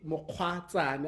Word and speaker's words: Mokgwatsane: I look up to in the industry, Mokgwatsane. I hope I'm pronouncing your surname correctly.